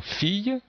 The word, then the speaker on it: fille: retrouver par exemple ici dans fille donc le i2 elle les deux ailes je prononce ya fille ou même pied puisque